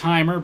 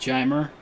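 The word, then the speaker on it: Jeimer: pronounce his name it's I thought it was himer but he likes it pronounced jammer and I believe he's okay with candelario but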